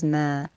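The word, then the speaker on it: ما: Is the word that looks like a circle, linked to a dash, linked to a vertical line, and is pronounced as ma.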